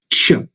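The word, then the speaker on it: Ч: how to what can I all say it's pronounced as Chu now pay close attention it is not thick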